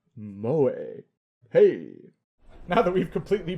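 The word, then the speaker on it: moe: English speakers at 8:00 pronounced mo pronounced mo a Hey now that we've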